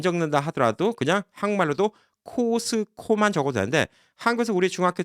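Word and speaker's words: Costco: 그래서 코스트코 이렇게 얘기하시면 그거는 저도 좀 듣기가 좀 약간 어색할 때가 있어요. 왜냐면 전혀 발음이 다르니까.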